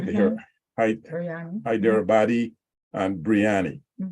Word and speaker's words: Biryani: here either body and Biryani right that's the pronunciation pronunciation idea or body breyani it's